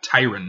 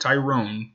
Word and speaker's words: Tyron: against tyron woodley yeah Tyrann not Tyrone tyrant it kind of pisses me off and people can't pronounce his name not anybody me know people are correct no problem it's when you're watching like fs1 and they're like tyron woodley you're like no his name is titrated there's no II after